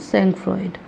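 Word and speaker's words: sangfroid: ठीक है, सेंकफ्रॉइड, वैसे इसकी स्पेलिंग जो है वो सेंकफ्रॉइड लिखी है, लेकिन पढ़ते हैं सेंकफ्रॉ।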